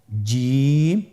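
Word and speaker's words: جيم: যাবে এর মাখরাজ হলো জিহ্বার মধ্যখান তার বরাবর উপরের তালুর সঙ্গে লাগিয়ে উচ্চারিত হয় আপনারা পিকচারে ছবিতে দেখতে পাচ্ছেন যে জিহ্বার মধ্যখান তার বরাবর উপরে তালির সঙ্গে লাগিয়ে উচ্চারণ করতে হয়।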